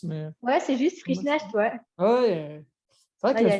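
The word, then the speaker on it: Frischknecht: Frischnecht avant, je ne sais plus comment on prononce, mais Ouais, c'est juste Frischnecht, ouais.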